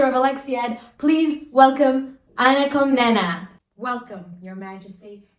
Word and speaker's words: Komnene: Actually, it's pronounced Komnene.